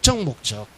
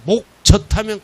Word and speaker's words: 목적: 목적. 발음 잘해야 돼요. 목젖하면 큰일 나요. 목적이야, 목적.